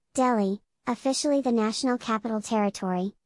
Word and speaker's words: Delhi: delhi delhi slash hindi pronunciation dilly punjabi pronunciation dilly or do pronunciation delhi officially the national capital territory nct of delhi